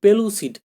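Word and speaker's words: pellucid: পেলুসিড, PLLU, এটা আমরা বুঝতে পারছি। পেলু, এভাবে জোর দেওয়া হচ্ছে, ডাবল এল।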